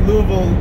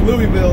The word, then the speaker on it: Louisville: He said, man, you say Louisville like a real Kentuckian. And I said, yeah, I had a family friend in California teach me how to say it. It was Louisville, as long as I can remember.